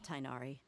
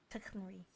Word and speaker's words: Tighnari: Thank you for the help, Tainari. Make sure you rest up for now. I'm pretty sure his name's pronounced Tighnari.